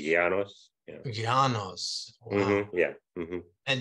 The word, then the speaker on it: Yanos: Yanos. Yanos? Yeah, the Y is like a R sound. It's like a soft G, R, so it'd be Yanos.